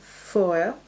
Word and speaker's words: Foer: Je voudrais vous parler d'un livre aussi, c'est Faut-il manger des animaux de Jonathan Safran Foer, ça se prononce comme ça.